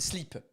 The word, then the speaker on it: slip: Because basically underwear in French, they pronounce it slip. If I say my boxer shorts, I'd say mon slip. Mon slip, il est noir. My boxer shorts are black. Mon slip, which obviously sounds like sleep.